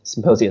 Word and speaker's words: Psymposia: magazine at symposia decom which is symposia spelled with a p ps ym p o